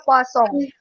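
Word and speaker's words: Poisson: mengikuti proses KUA song jadi bacanya bukan Poison ya karena ini orang Perancis jadi baja posong hukum jika memenuhi syarat-syarat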